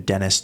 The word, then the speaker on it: Denys: There's this theologian, Dennis Turner. Annoyingly, Dennis is spelled Denys.